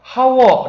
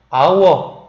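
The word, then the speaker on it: hour: 때 아 그 다음 아 어 할 때 h 는 소리가 나지 않죠 하 워 라고 발음하지 않고 아워 1시간 이라고 할 때 바우어 이렇게 발음 하져 h 는 소리가 나지 않습니다 9 할 때 아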